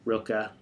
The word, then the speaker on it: Rilke: say his name wrong i say real key but reichel or rilke as often said but he says love